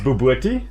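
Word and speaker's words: bobotie: in it B so it's called it's it's pronounced bti but it is spelled Bob otai and uh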